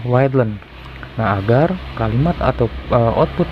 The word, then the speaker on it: readln: Nah, berarti kita memberikan di atas atau di perintah awal itu ln atau line disingkat. Jadi dibacanya readlen.